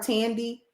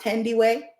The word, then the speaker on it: Thandie: People call her Tandy. It's pronounced Thandie.